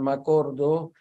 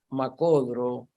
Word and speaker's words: me acuerdo: Sería el caso, como ejemplo, de me acuerdo, que algunos pronuncian macordo y otros macodro.